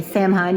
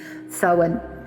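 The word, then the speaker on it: Samhain: Now during this presentation I may say Saman because that's how I've been pronouncing it but I further I think I looked up several pronunciations and it was sewen.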